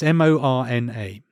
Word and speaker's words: Morna: And is this spelt Morna as in like somebody attending a funeral? It sounds like it, but no, it's Morna.